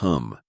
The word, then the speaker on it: hum: beginning and the end Mani is pronounced as in mama and Padme as Papa and me hum is another form of om and rhymes with it a rough translation would